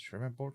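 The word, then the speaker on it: Shreveport: Uh, Sherman port. You pronounce it shreport.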